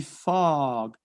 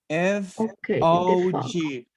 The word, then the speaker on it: fog: attack okay because the fog f o g the fog the fog the the o is pronounced phonetically as an a so the pronunciation is fog fog fog okay so